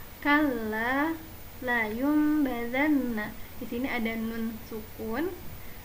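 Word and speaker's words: لينبذن: Cara membacanya, nun atau tanwin dirubah menjadi huruf mim dan bacaan mim harus ditahan selama 3 harokat. Kalla la yumbazanna.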